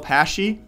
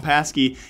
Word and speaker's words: Pashy: So very lastly as well, Pashy. Got it pronounced right this time, guys. I'm working. I always used to call him Pasky.